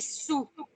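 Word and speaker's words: saoul: Il répète, il est sous. Ah, vous remarquez phonétiquement que je ne prononce pas le A, je ne prononce pas le L, ça fait sous.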